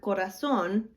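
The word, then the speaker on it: corazón: a word for example in the word corazon we know that the stress on that word is going to go at the end of the word because at the end of the word we have an accent mark on the o now sometimes accent marks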